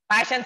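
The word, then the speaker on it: Paschen: Here, Passion series also called as Passion, C-H-E-N, Passion series.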